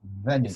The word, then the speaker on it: Venice: I think I got it, but I don't know the right pronunciation in English. Yes, it's Venice, You say?